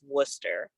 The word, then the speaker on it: Worcester: It's right outside of Worcester. And Worcester is not spelled Worcester, it's spelled Worcester, but that's how they pronounce it.